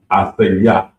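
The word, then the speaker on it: עסיס: And it's pronounced asaya.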